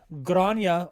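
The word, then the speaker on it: Gráinne: Grace O'Malley, or Grania O'Malley, as it's pronounced and as most people know her.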